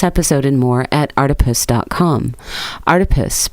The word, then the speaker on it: Artipoeus: Artipoeus, pronounced like octopus, because art is everywhere.